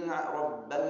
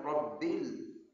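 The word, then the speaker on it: رب: Alhamdu lillahiabbil rabbal alamin. Rabbil. Kita boleh rabbal harus rabbil.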